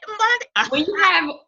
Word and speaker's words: Mbande: And Tayo, I should have asked, okay, Tayo Mbande. Mbande. Mbande. I got it, Mbande. If you have an African tongue, you're gonna say it the right way.